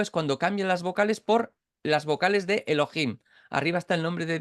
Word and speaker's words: Elohim: ve eso sabe que no tiene que leer yjo yovi sino que tienen que leer Elohim y es lo que hacen pronuncian Elohim y la que más nos